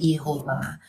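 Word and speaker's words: Jehovah: tadi yeha itu kan Yehova itu adalah orang berusaha membaca Yod he jadi Yod he he lalu orang masukkan huruf hidup untuk bisa baca lalu disebut Yehova tapi ada orang lain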